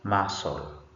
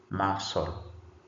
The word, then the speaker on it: muscle: This word is muscle. Muscle. Muscle. C is not pronounced.